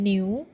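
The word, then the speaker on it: 牛: จะ แปล ว่า วัว ตัว N นะ คะ ตัว N ออก เสียง เป็น เนอ 1 IU นะ คะ ออก เสียง เป็น ตัว นี้ นะ ครับ เป็น สระ ภาษา จีน ออก เสียง ว่า UBU พอ มา ผสม กัน สอง คำ นะ คะ เนอะ New New ดี และ สระ วรรณยุกต์ เสียง ที่ 2 นะ คะ จะ ออก เสียง เป็น หนิว หนิว เสียง จัตวา นะ คะ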